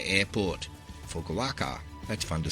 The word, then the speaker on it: Fukuoka: If your baggage tag says FUK, you are flying to Japan, and more specifically, the Fukuoka airport. Fukuoka, that's fun to say. Fukuoka, say it now.